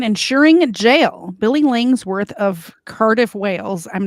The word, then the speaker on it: Cardiff: If you're saying it in English, yeah, but we actually say Cardiff.